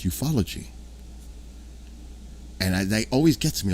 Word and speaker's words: ufology: But a lot of people say it ufology, and it's not. It's ufology.